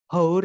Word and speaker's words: hour: hour pakai h tulisannya tapi kalau dibaca hour itu bukan hour bacanya tapi hour pakai a bacanya jadi makanya bilang 1